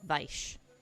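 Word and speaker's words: Weisz: Um W's are pronounced like V's.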